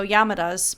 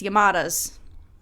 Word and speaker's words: Yamadas: is called my neighbors the yamadas and that pronunciation was really hard for me to not want to go yamadas but it's yamadas yamadas I got it um the film is an